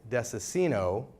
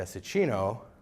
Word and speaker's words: Dessicino: grew up pronouncing it Desa sino with a soft C until I started learning Italian at the age of 20 and learned that it should be the Szczecin Oh with the cheese sound and then I moved